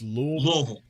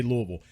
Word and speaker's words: Louisville: And again, that's the correct way to say it. It's not Louisville. It's not Louisville. It's Louisville. If you're going to be a part of that scene, you got to say Louisville.